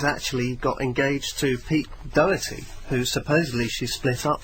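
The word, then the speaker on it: Doherty: I'm so glad you said Pete Doy because everyone insists on pronouncing it docky and it's not. Well, is it docky or is it? No, there's no C.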